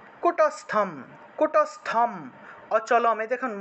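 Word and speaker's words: কূটস্থম: তাহলে সর্বত্র গম অচিন্ত্যম চ কুটস্থম, এখানে দেখুন অনুস্বার থাকায় ম উচ্চারিত হয়েছে।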